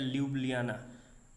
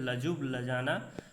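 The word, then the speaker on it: Ljubljana: और स्लोवेनिया का कैपिटल है, स्लोवेनिया के ल्यूब्लियाना। इसको बोलते हैं लजुब लजाना, लेकिन जो प्रोनाउंसिएशन होता है वो ल्यूब्लियाना होता है। LJUB, जे साइलेंट रहता है, इसको बोलते हैं लजुब ल्यूब्लियाना, ठीक है।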